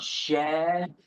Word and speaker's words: Sheol: This right here is representative of unknown, which in the Hebrew is pronounced sheol, and specifically is the Hebrew word for question in the infinitive or question, interrogatory.